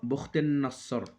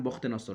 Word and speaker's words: বখতে নসর: পুত্র বলা হতো আচ্ছা আর আরবি উচ্চারণ মূলত বখতেন নাসর প্রচলিত উচ্চারণ বখতে নসর সেভাবেই রাখা হলো আচ্ছা তো এখানে বলা